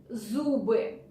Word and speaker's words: зубы: Z, z, like zoo in English. Зубы, зубы, чистить зубы.